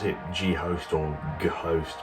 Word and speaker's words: g/host: This little retrospective on the first album, or first project I did under the Kleptos name, Ghost. I mean, you can pronounce it G-Host or G-Host, but it's pronounced Ghost, but I mean, death